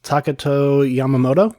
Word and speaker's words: Takato Yamamoto: can you help help me out with the pronunciation uh yes it is uh takato Yamamoto yeah I finally feel like I got Yamamoto